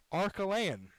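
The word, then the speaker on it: Arkelian: Fortunately enough, I have my pronunciation guide on hand. Archelayan, A-R-K-E-L-I-A-N. Derek Archelayan will pinch hit for Adam Alaman.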